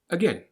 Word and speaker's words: again: About, around, again. The a sound that you read is actually pronounced as an sound, the schwa.